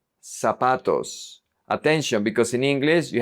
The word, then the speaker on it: zapatos: In Latin America, we pronounce it like an S.